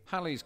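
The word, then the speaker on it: Halley: so did Lawrence Olivier Hal's Comet which is pronounced Hal's Comet and not Haley's Comet had been recorded numerous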